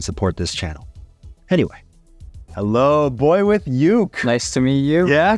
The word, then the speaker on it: BoyWithUke: You pronounced my name correctly? I didn't say Uke, No, even though it was tempting. it's Boy with Uke.